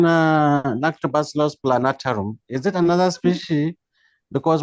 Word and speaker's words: plantarum: So what I'm saying, except if it is a different species, the right name is Lactobacillus plantarum, not plantarum.